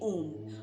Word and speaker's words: ओम: सभी ध्वनियां निकलती है अ उ म इन तीन अक्षरों से मिल कर बना हुआ ओम का उच्चारण अपने आप में उच्चारण की पूरी प्रक्रिया को अपने में समेटे हुए हैं यह ध्वनि मौलिक कंपन